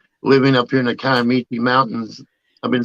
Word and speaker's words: Kiamichi: Well, supposedly you're supposed to pronounce it Kiamichi.